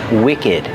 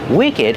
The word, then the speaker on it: wicked: And we have the word wicked. Wicked has a short sound too. And we pronounce the ed like together.